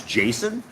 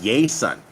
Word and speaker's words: Jason: I came down here people don't know how to say my name they call me yay son right because Jay's don't have that J sound there's no such thing and so even though